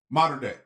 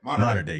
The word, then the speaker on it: Mater Dei: Mater Dei. Mater Dei.